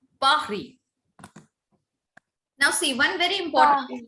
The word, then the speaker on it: Paris: Paris is not called Paris. It is called Paris. Paris. Paris. Yes. Ma'am, Paris. Yes, Paris. Because I told you S is silent. All the consonants will be silent.